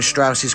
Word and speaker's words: Strauss: nuclear weapons L Strauss it's pronounced Strauss the atomic energy commission